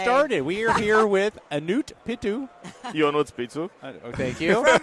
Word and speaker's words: Ionut Pitu: We're not going to be able to pronounce it. We're gonna call him. Well, you can try it. It's Ionut Pitu.